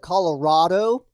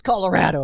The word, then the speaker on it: Colorado: for sylvanic and also if you guys pronounce it colorado i don't think we're friends actually it's colorado all right i live